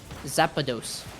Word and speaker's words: Zapdos: It's like you're mispronunciating the legendary electric bird from Pokemon. Zapdos.